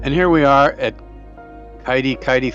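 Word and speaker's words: Kitekite: here we are at kidi kitei Falls or kitty kitty sorry they're pronounced kitty kitty and uh in this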